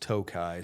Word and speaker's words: Tokaji: of research and the pronunciation I found was tokaji but the entire wine and bourbon and whiskey world tells me that that word is pronounced tokai.